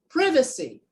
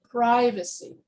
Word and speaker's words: privacy: with more stress so in british english i would say privacy and in american english i would say privacy and so when you